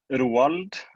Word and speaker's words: Roald: So my name is, it's difficult to say in English, Roald again, which is the Norwegian pronunciation of it.